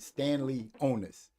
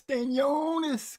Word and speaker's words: Stanionis: And he say I always wanted to pronounce it Stanley Onus. Now it's Stanionis.